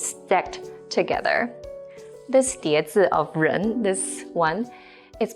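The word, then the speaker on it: 人: this component by itself is a character that's pronounced as run Jen means person for example how is good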